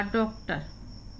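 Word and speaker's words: doctor: ओ का उच्चारण यहाँ पे ओ हो रहा है और यहाँ पे आ हो रहा है। डॉक्टर, रा का उच्चारण हम लास्ट में कम करते हैं। डॉक्टर इतना बोलेंगे, डॉक्टर। ओ और यहाँ पे आ उच्चारण है।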